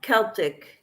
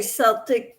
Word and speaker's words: Celtic: Yeah, Celtic. Yep. I say Celtic, but it's Celtic. It sounds like a K.